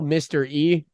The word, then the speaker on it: Mr. E: And Fools Gone Wild has a character called Little Mr. E, like mystery, but it's spelled like Mr. like Lil M, like Mr. MR. yeah, and then E.